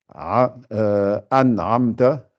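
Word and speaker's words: أنعمت: Donc, c'est pour ça et ensuite, l'autre cas où il faut faire attention, quand c'est le A et le Aïn qui se suivent, souvent aussi, on les prononce mal. Donc, faites bien an'amta.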